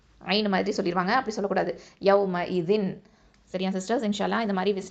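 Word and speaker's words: يومئذ: இது எப்படி சொல்லணும், சும்மல துஸ்அலுன்ன யௌம இதின் அனின் நஈம். அல்ஹம்துலில்லாஹ் சிஸ்டர்ஸ். அதே மாதிரி யௌம இதின் அப்படின்னு சொல்லும்போது நிறைய பேர் ஹம்சாவை ஐனா மாற்றி கூட உச்சரிக்கிறாங்க.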